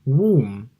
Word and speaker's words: womb: Bernette very many students is to mark that there's no B and also womb so it's a similar